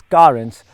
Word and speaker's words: Carens: karens now kia would like you and me to pronounce the name as currents because all their three